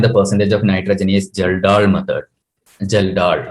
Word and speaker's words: Kjeldahl: Geldahl. K is silent. Its pronunciation is Geldahl.